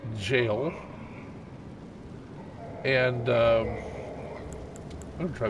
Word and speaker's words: Gaol: here we go but g a o l is jail and um I'm going